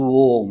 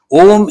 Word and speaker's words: Om: Om iti eka aksharam brahma vyaharan. You have to pronounce it properly. A, U, Ma.